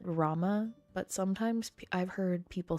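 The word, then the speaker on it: Ramuh: I pronounce it Rama, but sometimes I've heard people say Ramu, which I also understand, but I pronounce it Rama.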